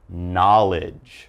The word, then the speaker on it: knowledge: and then down to knowledge all right again no k sound we have knowledge now knowledge is all